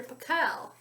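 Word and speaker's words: Pickell: Actually, his name is Dr. Pickle, with the accent on the second syllable.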